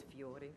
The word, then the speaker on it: Fiore: The Italian pronunciation of my name is Fiore.